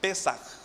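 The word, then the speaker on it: פסח: se escribe Pasach, y se pronuncia, según algunos entendidos, se pronuncia como Pesach, con J al final, o el Pesach.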